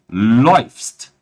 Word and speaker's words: läufst: Percebam, liebe Leute, a diferença da pronúncia. Laufen, laufen. E aqui nós teremos du läufst. Du läufst. Ou seja, mudou de AU para OI.